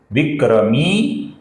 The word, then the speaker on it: विक्रमी: इधर मी दीर्घ है तो उसका उसी दीर्घ तरीके से उच्चारण करना अभिप्रेत है। ईश्वरो विक्रमी आगे का नाम है दोस्तों धनवी ये भी दीर्घ है।